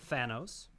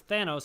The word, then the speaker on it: Thanos: And we round out the bracket with number 2, Thanos versus 15, Samson. Okay, now I'm just going to help you out here. It's Thanos.